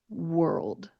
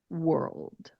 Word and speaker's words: world: So we are going to use that dark L sound when we're pronouncing it. So let's practice this one. World. World.